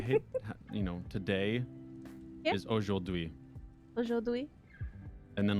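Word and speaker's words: aujourd'hui: sure yep i hate you know today is oh dewey and then like bird is a wazzo wazzo and it's spelt so stupid like here i'll i'll spell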